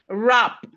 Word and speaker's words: wrap: So we have it in words like right, wrist, wrong, wrap, wrinkle. The W is silent in wrinkle.